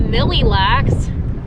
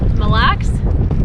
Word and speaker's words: Mille Lacs: crap for my accent they said that i was saying mill lacks i know it's not millilacs or mileax how do you say that mille lacs black good how are